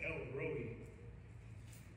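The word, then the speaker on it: El Roi: about el roja actually i looked up pronunciation for this and it's l rhodey el roby but that sounds weird to me elroy the god who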